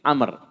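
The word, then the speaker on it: عمرو: Kalau tidak ada wawunya, Umar. Jadi sini ada wawunya, jadi panggil Amr.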